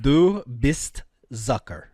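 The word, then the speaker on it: du bist Zucker: Dubist Zucker.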